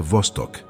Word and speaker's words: Vostok: O elemento central deste mergulho é o lago Vostoc, que se pronuncia Vostok, um nome que evoca o isolamento e a descoberta.